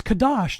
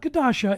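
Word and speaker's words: חדש: new moon is repaired it's cadash not gasha it's repaired it's renewed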